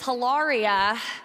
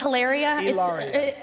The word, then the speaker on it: Hilaria: speaking of terrible names your wife's name is hararia is it Hilaria Hal it's alaria Elia oh it's so